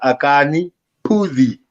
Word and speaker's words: Akani Phuzi: your play yes it's yours my name is akane pudi i was going to pronounce it correctly yeah yes oh yes another